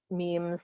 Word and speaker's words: meme: according to dawkins a meme is quote a unit of cultural transmission or imitation and the term comes from the greek mimema which means imitated and which dawkins supposedly shortened to rhyme with gene on purpose so this